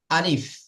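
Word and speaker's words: ألف: ভিতরে যে হাওয়াটা থাকে সে হাওয়াটা বার করলে আলিফ উচ্চারিত হয়ে যাবে আলিফ আলিফ আলিফ আলিফ জি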